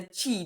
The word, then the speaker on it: chi: so that's why I call the chi because it rhymes with tea basically but but a lot of people go oh chai tea and I'm like no no it's tea time so so it's often